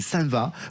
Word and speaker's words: Saint-Vaast: Alors, faut prononcer ça va pour les invés et c'est c'est un